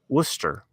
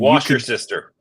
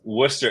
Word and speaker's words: Worcester: They're boarding for Worcester. Did I pronounce it right? Worcester. Okay. Worcester. Because the flight attendant who was making the announcement murdered it. And wash your sister.